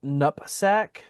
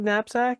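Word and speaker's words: knapsack: Um, I found it very interesting when the cop said nupsack. I was like, is that really how some people say napsack? Is it nupsack? Am I saying have I been Is everybody else saying it wrong?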